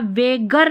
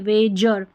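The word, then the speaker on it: wager: jail, gender, gentleman, genuine, यहाँ वेगर नहीं वेजर, स्ट्रेंजर, गर्म नहीं जर्म,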